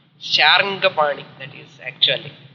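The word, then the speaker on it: शार्ङ्गपाणि: At last they are all called Sarangapani. Sharangapani, that is actually. Sharangapani. The pronunciation custom சொல்லி எல்லாருமே Sarangapani, Sarangapani.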